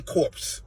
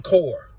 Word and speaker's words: Corps: That is not Marine Corps. That's Marine Corps.